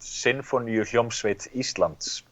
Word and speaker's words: Sinfoníuhljómsveit Íslands: Yeah, it's the Iceland Symphony Orchestra, and it's pronounced Sinfoníuhljómsveit Íslands.